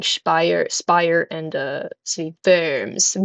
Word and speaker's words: Worms: So the other two being spire spire and uh city verms verms spelled like worms but pronounced German.